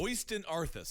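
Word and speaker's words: Øystein Aarseth: that's Uranus's real name it's spelled oyster but yeah it's oysten arthas it's an earth now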